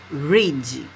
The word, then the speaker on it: read: I didn't read. A escrita ficou igual, mas a pronúncia é diferente, ó, voltou para o presente.